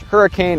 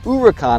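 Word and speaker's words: Huracán: it should be pronounced hurricane or huracan it's actually pronounced uracon according to lamborghini the name comes from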